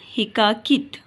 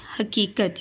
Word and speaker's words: حقیقت: لیے جستجو ضروری ہے۔ حقیقت یا حقاقت، تو صحیح لفظ ہے حقیقت، یعنی کائنات کی حقیقت